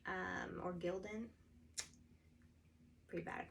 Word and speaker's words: Gildan: messy crafting um i'm going to press a gideon um or gildan pretty bad at pronouncing things today uh gildan heavy cotton um